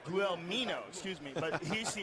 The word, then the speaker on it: Guelmino: Good elbow on the top by Guelmino.